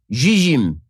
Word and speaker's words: Zzyym: The recipient is Colorado resident Dana Zizim. Okay, the reason I pronounce it that way is because the last name is spelled Zzyym.